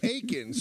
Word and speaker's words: Aikens: 60 year olds oh it's aikens you even said it wrong it's aikens it's not actually kills the joke that